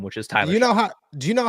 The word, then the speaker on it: Shough: Yeah, I hope everybody does the same with Tyler Shough.